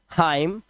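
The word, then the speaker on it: hymn: अब देखिए एन कब साइलेंट होता है? एम के बाद आया एन साइलेंट होता है। एम के बाद आया एन। जैसे यहां पर एम के बाद एन आया तो इसे पढ़ते हैं डैम N silent हाईम एनसाइलेंट column N silent और ऑटम साइलेंट क्या है हमारा एन यहां पर साइलेंट है डैम मतलब लानत है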